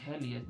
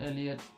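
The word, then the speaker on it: Elliott: I think his season was worse than than why am I calling him Heliot, bro? It's not too than Elliot.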